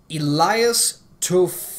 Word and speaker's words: Toufexis: Not only those two, but I hope I say this name right, Elias Toufexis. Fexis. It's spelled really weird. T-O-U-F-E-X-I-S. Elias Toufexis. I hope I said that right, but that dude is